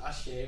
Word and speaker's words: Achee: Today we have a very, very, very special guest, Brian Achey, spelled A-C-H-E-E, and you pronounce it Achey, right?